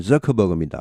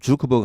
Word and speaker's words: 저커버그: 뭐 개인정보 유출 등등 해서 여러 가지 많았는데, 자, 이런 것들 이후에 저커버그, 영어 발음은 저커버그입니다. 우리말로는 주커버그 하는데 영어 발음은 저커버그입니다.